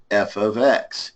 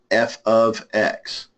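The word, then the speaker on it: f(x): in the format of f of X equals 1 minus x squared again that F parentheses X is pronounced it is spoken as f of X f of X how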